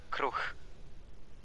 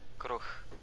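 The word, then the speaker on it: kruh: Is that how you say it? Kruch? Kruch. With an H at the end. Kruch. Kruch. With a K-R-U-H.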